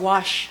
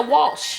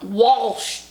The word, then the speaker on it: Walsh: you said wash. No, I said Walsh. No, you said wash. I'm telling you, you swallowed the L. Walsh.